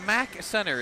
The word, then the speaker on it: MAC Center: The MAC Center is the correct pronunciation here, right?